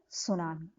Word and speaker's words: tsunami: Tsunami. Tsunami. T is silent here.